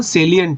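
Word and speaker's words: salient: हैं ठीक है ना ये साइलेंट नहीं है सेलियंट है सेलियंट फीचर्स बता दे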